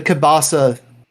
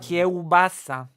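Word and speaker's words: kiełbasa: I knew it the kabasa you know it's it's just I'm gonna teach you some pronunciation kobasa kassa kobasa kobasa yes also I'm going to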